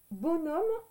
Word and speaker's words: bonhomme: Alors, bonhomme, ça s'écrit comme ceci. Donc, ça s'écrit bon. Ça, c'est bon. B-O-N. D'accord? Le H, on ne l'entend pas.